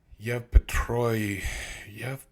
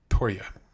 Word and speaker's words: Yevpatoria: Morning UAV missile attack on Yevpatroy. I'm not saying that yet. Yevpatoria. Yevpatoria. That's how you say it.